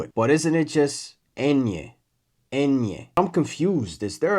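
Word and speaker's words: ñ: But, isn't it just enye?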